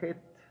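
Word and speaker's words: חטא: Si nosotros tenemos únicamente estas dos letras, se sigue pronunciando het. Y si agregamos esta, se sigue pronunciando het. Esta letra no tiene sonido en esta palabra.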